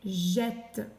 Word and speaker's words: jette: On a vette, rette, mette, R, quette, nel et jette. Attention, le G chante J parce qu'il y a un E derrière.